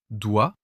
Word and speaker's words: doigt: Doigt, un G totalement discret.